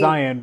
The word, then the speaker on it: Zion: But yeah, people would be like trying to figure out how to pronounce it, or they'll be like, oh, Zion, like a lion.